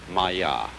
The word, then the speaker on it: maya: i'm going to write that down for you pronounced maya and this word comes from a root in